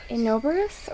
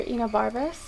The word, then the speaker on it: Enobarbus: So we have, this is Enobarus or Enobarbus, many different pronunciations.